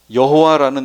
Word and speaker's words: 여호와: 원래 어떻게 발음했는지 몰라요. 지금 서기관들이 그걸 이렇게 글을 쓸 때 그게 4개의 자음만을 이렇게 쓰고 모음을 안 써놨어요. 그래서 어떻게 발음하는지를 몰라요. 지금도. 그랬더니 아도나이의 모음을 그 4개의 자음에다 갖다가 넣어가지고 여호와 이렇게 지금 발음하고 있는 건데, 그게 실제 이름이 아니라고요.